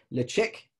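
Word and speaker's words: Ledaig: read uh is uh la deg or phonetically le chick which is the original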